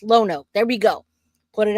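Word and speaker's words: Lonoke: All right, so thank you, Lone Oak. Thank you. I appreciate that. It's pronounced Lono.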